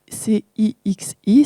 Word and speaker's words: Cixi: Donc, son nom s'écrit C-I-X-I, ça se prononce Cixi.